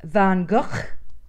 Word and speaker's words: van Gogh: Gogh is actually pronounced van Gogh yeah it totally sounds like a cough van Gogh was a